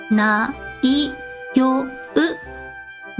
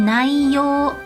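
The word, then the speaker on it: 内容: The next word is repeat after me. ないよう。内容。内容. Perfect. Yes. So, 内容 is content.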